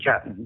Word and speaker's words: Juetten: ways now I I introduced you as jutton but we know your name is spelled a little bit differently so how can